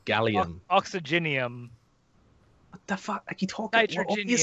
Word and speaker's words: gallium: me some of that Gallum no it's gallium oxygenium what the [